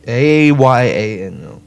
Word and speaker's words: Ayano: A-Y-A-N-O.